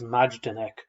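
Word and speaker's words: Majdanek: so the first camp that is liberated is majdenek uh my pronunciation because that could be quite poor m-a-j-d-a-n-e-k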